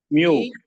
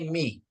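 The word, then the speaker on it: μι: Oke, ini alfa, beta, gamma, delta, epsilon, zeta, eta, theta, iota, kappa, lambda, Mu. mi, mi, ya bacanya mi. Ini mi, ya.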